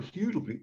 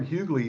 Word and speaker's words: Huguley: Piper Huguley, excuse me, mispronounced your name. Piper Huguley, who's written an entire series, the Home to Milford College series, which goes across multi-generations.